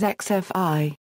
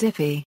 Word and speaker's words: XFI: using 8b/10b and coding xfi is sometimes pronounced as xfi and other times as ify mechanical Dimensions the physical